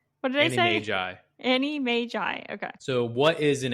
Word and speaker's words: Animagi: the the wonderful world of and it's actually pronounced Annie Mai Annie that's what I looked it up yeah